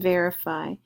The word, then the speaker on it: verify: means vertical vertical and verify ver is the accented part of that verify means to establish